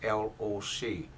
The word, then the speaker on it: Loc: First name is L-O-C. L-O-C means pronounced Loc.